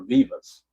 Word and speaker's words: Vivas: Vivas. You're saying it's Yorbit Vivas, like it's pronounced with an E, or Vivas? Okay, sharing with the E, so it's Vivas then.